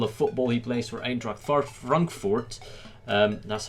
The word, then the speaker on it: Eintracht Frankfurt: He plays for Eintracht Frankfurt.